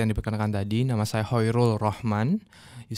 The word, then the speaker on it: Khoirul Rohman: Perkenalkan, seperti yang diperkenalkan tadi, nama saya Hoirul Rohman.